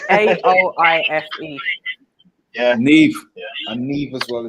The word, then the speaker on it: Niamh: No, it's a name that's spelled NIAMH, but the MH isn't said how it. Yeah, you pronounce it as a V. Neve.